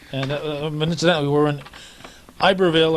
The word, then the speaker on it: Iberville: Yeah, and incidentally, we were in Iberville, or Iberville as the Canadians pronounce it.